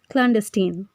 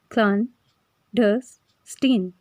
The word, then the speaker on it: clandestine: इस वर्ड की प्रोनाउंसिएशन कुछ इस तरह से होगी, क्लैंडस्टीन, क्लैंडस्टीन, क्लैंडस्टीन।